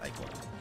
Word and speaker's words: ichor: No, it is pronounced Ichor. You're welcome to say it wrong, but that is how the word is pronounced.